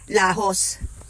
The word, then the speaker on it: Laos: andito na kami sa lajos Island Ang ganda ito ang lajos Island ng Caramoan kung i-spell mo siya ay l a o s pero ang pronounciation daw doon ay lahos magkabilaan ang kanyang dagat